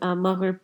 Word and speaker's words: Maghrib: Maghrib, which is Maghrib prayers that Muslims practice, becomes it's pronounced as Maghrib in Sylheti because the sound becomes a E sound.